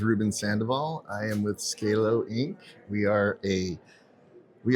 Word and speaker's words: Zcalo: Z Scalo. Scalo, but with a Z. Right. Very cool, very cool. And if you can please introduce yourself and your organization. My name is Ruben Sandoval. I am with Scalo Inc.